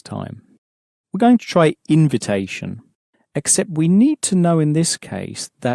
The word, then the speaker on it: invitation: We're going to try invitation, except we need to know in this case that in, at the front of a French word, is actually pronounced un.